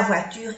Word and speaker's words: voiture: La voiture est garée devant le bâtiment. Vamos a ver. O-I es oie. Oie. Voiture. U. Voiture. No pronunciamos la E.